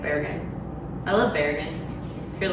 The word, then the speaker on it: Bergen: mean it might be that might be the norwegian way of saying it's bear again i love bergen if